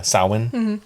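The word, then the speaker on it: Samhain: happy s s yeah sin okay I was like sin is that how you say it yeah perfect um yeah this is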